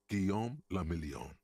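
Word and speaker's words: Guillaume Lemillion: meant only one thing guillaume lamillion if it doesn't rhyme you're not pronouncing it right out of the dazzling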